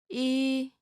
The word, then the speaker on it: 이: 이, This is pretty easy, right? Practice writing this character as you say the pronunciation out loud.